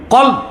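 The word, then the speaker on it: قلب: কলব। আপনারা অনেকে ভুল উচ্চারণ করেন, বলে কালব। কালব মানে কুত্তা। উচ্চারণটা হবে কি? কলব।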